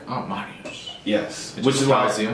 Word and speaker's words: Mariusz: So we are here with the lovely Emma and Mariusz.